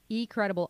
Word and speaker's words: eCredable: it for you folks it's e-c-r-e-d-a-b-l-e so e-cred b l e e credible i'll put it up